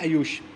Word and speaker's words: आयुष: इसमें N silent है, ये हो जाता है आयुष।